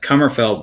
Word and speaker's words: Kummerfeldt: yeah i don't know who jason is it's pronounced uh cummerfeld by the way okay easy yeah easy across